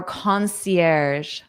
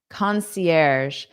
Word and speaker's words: concierge: Our concierge. Concierge. So this is a word we borrow from the French language.